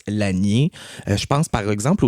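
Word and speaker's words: Lasnier: Donc la famille Laniier par exemple qui s'écrit L A S N I E R, on prononce l'anier.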